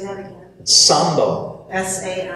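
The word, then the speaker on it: Zambo: S-A-M-B-O. It's actually Z-A-M-B-O. C-A-M. Yeah, but like we pronounce Sambo, Sambo.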